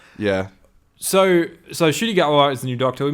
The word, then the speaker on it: Ncuti Gatwa: I think a lot of people were struggling to pronounce it, but now we know it's Ncuti Gatwa.